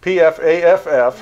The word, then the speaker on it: Pfaff: P-F-A-F-F. Right. So the appropriate pronunciation is? Pfaff. Pfaff. So the first F is silent.